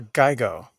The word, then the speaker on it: GIGO: Do you pronounce it Gigo or Geigo? I always did Gigo. How about you? I was Geigo.